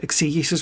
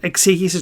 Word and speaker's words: exegesis: an ancient Hellenic mythology exegesis right now? Yeah, by the way, you Bible fuckers who want to use our words, that's how you pronounce it. Exegesis, not exegesis. Right?